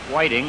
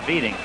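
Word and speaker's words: Widing: So Juha Whiting was Juha Viting. And that's the way he wanted it, or spelled it.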